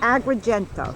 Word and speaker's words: Agrigento: Agrigento.